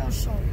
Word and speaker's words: Auchan: Bo bardziej się pisze Auchan, a wymawia się Auchan.